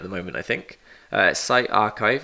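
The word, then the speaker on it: PsyArXiv: Uh site archive is how you pronounce that.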